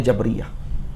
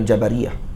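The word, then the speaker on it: Jabriyah: obatnya Jabariyah Nah tadi para ulama kita di Mesir baca jabriya yang tepatnya jabria bacanya magehap jabria bukan Jabariyah jabria 25 gak Jabariyah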